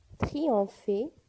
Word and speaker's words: triompher: triompher triompher دونك هنا PH تنطق bien sûr F معناها ينتصر.